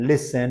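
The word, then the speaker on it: listen: बाद से जो है हमारा टी जहां साइलेंट रहेगा जार फसन लिसन मैच वच यहां पर टी देख रहे हैं आप साइलेंट है ठीक है तो ये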